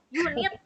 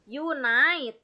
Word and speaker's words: unite: ya Mister ah that's great kemudian saya mendengar unit unit mempersatukan harusnya Unite ya iya iya nah kemudian saya mendengarors maksudnya